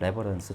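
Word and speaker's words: reverence: 얘 명사가 레버런스입니다. 발음이 달라요. 앞에 액센트가 있기 때문에 레버런스, 존경, 경외 이런 뜻이니까 존경으로 할게요.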